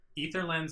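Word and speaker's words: Aether Lens: ether lens and egis ether lens is correct but people just like to say ather so whatever armor reduced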